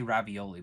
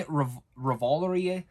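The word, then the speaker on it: Revolori: Jason played by Tony I always say ravioli but it's not ravioli Tony revolverye I'm terrible pronouncing names but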